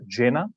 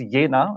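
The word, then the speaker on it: Jena: attention to my pronunciation I called it Yen not Jenna that brings us to our first German lesson for tonight so it's yena as in the word ya so yena therefore it's not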